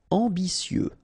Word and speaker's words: ambitieux: Ambitieux, final X not pronounced, and then remember that you get this T, I, and then vowel, so si.